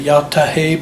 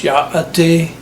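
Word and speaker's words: Yá'át'ééh: In Navajo, they say yate. A lot of people say yatahe, but that's not really the correct pronunciation. It's yaate.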